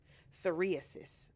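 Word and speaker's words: phthiriasis: Ptheriasis. That is the scientific name for pubic lice or crabs. Ptheriasis. Hold on. Ptheriasis. Oh, the P is silent. Ptheriasis.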